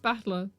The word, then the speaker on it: Battler: The problem is my given name is made up of the characters of fight and person, and it's pronounced battler.